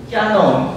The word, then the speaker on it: キヤノン: ましたよくあの書き方で間違えなのがキノン発音はキノンなんですけども書き方は実はが大きいんですねキノンと書い